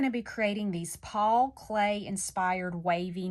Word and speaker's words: Klee: at his last name it's spelled k-l-e-e so you might think it's CLE but we pronounce it clay and then teachers I